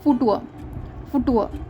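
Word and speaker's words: Futur: यहाँ पे इसका प्रोनाउंसिएशन ये होता है फुटुअर मीन्स फ्यूचर। तो फ्यूचर टेंस जो है ये टॉपिक बहुत बाद में आता है।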